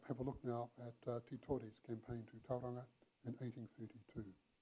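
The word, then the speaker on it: Titore: Let's have a look now at Te Tore's campaign to Tauranga in 1832.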